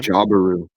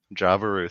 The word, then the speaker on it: Jaburu: Jabaru. Jabaru, thank you, Triple. I'm not gonna On try your tribe, pronouncing you that.